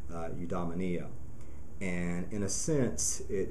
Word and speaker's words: eudaimonia: and is very closely related to rha it's pronounced eudaimonia and in a sense it is sort of